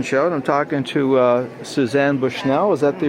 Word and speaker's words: Suzzane Bushnell: I'm here at the Vintage Fashion Show, and I'm talking to Suzzane Bushnell. Is that the right pronunciation?